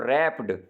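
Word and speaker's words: wrapped: अब रैप्ड, ये डब्ल्यू जो है ये साइलेंट ज़रूर है, लेकिन अगर रैप जो है आर की आवाज़ है, तो आर की आवाज़ अलिफ की आवाज़ तो नहीं आ रही, इस वजह से इसके साथ ए ही आएगा।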